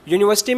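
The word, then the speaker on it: university: से हो रही है, बट अगर आप उसको प्रोनाउंस करेंगे तो आप यू बोल रहे हो, यू, आप यू वाला सेंस लगा रहे हो, ना कि ऊ आ रहा है उसमें।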